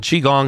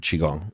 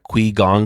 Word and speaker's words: qigong: call our studio and they can't pronounce the word chi and they'll say yes I'm inquiring about that que gong class who's que and